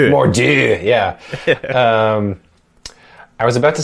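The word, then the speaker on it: Mor'du: So the existence of the demon bear, I forgot his how is it pronounced? Mordieu, yeah.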